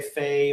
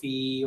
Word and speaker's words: Fe: Almost like fear, but without the... If I was British, I would say Fiha. Yeah, something like fear, but without the R, fee.